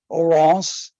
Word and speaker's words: Oronce: You asked about the pronunciation, Frank. Oh, yes. Oronce, the first name, and Fine, F-I-N-E, a French